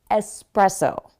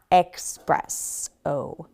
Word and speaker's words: espresso: Let's talk about espresso. Okay, people are confusing the word express, like fast, and espresso, a caffeinated beverage, which I love. So it's espresso, not expresso.